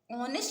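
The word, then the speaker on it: honest: लोग लिखते हैं ऐसे बट पढ़ते क्या है ऑनेस्ट ही ना पढ़ते एच यहां साइलेंट रहता है है ठीक है तो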